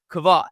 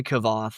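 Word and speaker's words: Kvothe: I I I say Kavoth. That's how I pronounce it in my head. I I had to listen to some of the audiobook as I drove and they said Quoth. So I say Kav.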